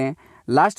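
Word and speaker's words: wholly: बोलते हैं होली बोलते हैं लास्ट वाले होली जहां डबलू साइलेंट है होली का मतलब है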